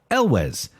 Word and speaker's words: Elwes: spelling in your head it's pronounced like it's spelled Elwes we'll not we'll not